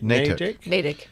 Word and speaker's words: Natick: but you're you're saying nadine that's right no name natick but it's not no the t is not so harsh yeah that's it that's